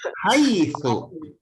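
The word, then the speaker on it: حيث: Jangan bacanya hai ya. Tapi bacalah dengan haitsu. Haitsu.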